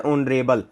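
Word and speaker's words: honourable: अब जैसे यहां पर है ऑनरेबल। तो इसमें जो है ना एच साइलेंट होता है। ओ की साउंड आती है।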